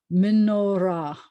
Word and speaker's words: menorah: We have menorah.